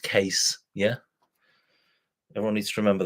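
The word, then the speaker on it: Kees: I know it says Keys, but it's pronounced Case.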